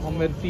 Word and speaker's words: অমৃতি: আর এটা হচ্ছে অমৃতি এটা অমৃতি না বে অমৃতি অমৃতি প্রোনাউন্সেশনটা ওটাই উচ্চারণটা অমৃতি অমৃতি কিন্তু এটা খেতে অতটা